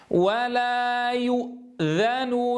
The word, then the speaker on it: ولا يؤذن: ولا يؤ ولا يؤ ولا يؤ لاحظوا الآن الهمزة ساكنة، لا يصح أن أضم الشفتين عندها، لا أقول يؤ يؤ يؤ، انظروا كيف شاب السكون ضم، واضح يا إخوة؟ إذاً نعيدها مرة ثانية. ولا يؤ يؤ يؤ يؤ، انتبهوا، نضم الشفتين عند الياء ثم أسكـ أرجعها مباشرة إلى وضع السكون عند النطق بالهمزة.